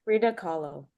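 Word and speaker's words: Frida Kahlo: for defending is that her name Freda Ko K u h l o am I saying it wrong that's Freda Ko k u h l o I believe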